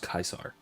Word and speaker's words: Caesar: classical latin we're just c's and j's were just eyes and c's were always hard so caius yulius kaisar was the actual pronunciation glasgow latin which is